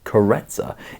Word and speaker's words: Karezza: by the way is spelled caressa but is pronounced carretzer is defined in this book as relaxed gentle